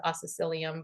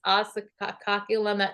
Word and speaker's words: Oscillococcinum: The one I always call it oscillocilium, but I call it oscillococcinum. I might not call even it say it right either. Nowhere near that. It's oscillococcinum.